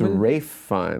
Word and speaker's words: Ralph Fiennes: I always said Ralph, and I think it's Rafe. Let's look it up. Or Ray Fiennes, I used to say. This is a Berenstein situation. Yeah, Ralph Fiennes. So why do people say Ray Fiennes? Because that's how he pronounces his name.